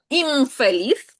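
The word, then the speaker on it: infeliz: Імфеліс. Так, ми вимовляємо як м імфеліс - це нещасний.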